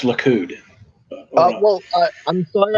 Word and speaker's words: Likud: you feel any better i think you sped that wrong it's likud oh well i i'm